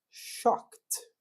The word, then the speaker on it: shocked: Entretanto, né, a gente vai ter palavras ali, olha, que são terminadas, né, por exemplo, shock, né, shock. Eu vou falar shocked, ok? Interrompi o som.